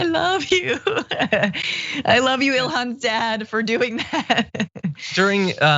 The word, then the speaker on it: Ilhan: So Ilhan Omar says, Ilham, I prefer Ilhan.